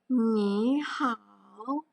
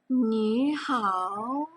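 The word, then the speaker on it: 你好: Ni hao. Bacanya seperti itu ya. Ni hao.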